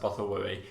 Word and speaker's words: Bothawui: They pronounce it Bothawui in that, so I've always pronounced it Bothawui.